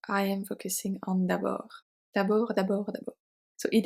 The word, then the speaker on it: d'abord: We have d'abord. D'abord. So the final D is silent.